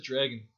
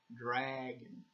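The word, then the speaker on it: Draaagin: Well, in English, his name is Dragon, but it's spelled like D-R-A-A-A-G-I-N. Like things are dragging along.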